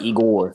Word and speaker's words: Igor: Igor. You gotta pronounce the O. Igor.